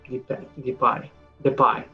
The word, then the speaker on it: Depay: Depay, don't know how you pronounce in England or in English, but that's that. In Spain, we call it Depay.